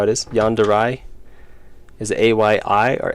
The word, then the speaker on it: yandere: Yandere. Is it A-Y-I or A? I think it's A. Yandere. It doesn't look like that's how it should be pronounced. It looks like it should be Yandir.